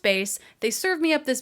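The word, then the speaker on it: Béis: little like accent or dash above the is pronounced bass they served me up this base ad and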